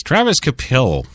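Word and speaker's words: Travis Kvapil: The V is silent there. So it's Travis Kapil.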